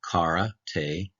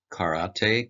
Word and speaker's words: karate: Reading top to bottom, Karate Do. This is Karate Kanji Madness with me, Sensei.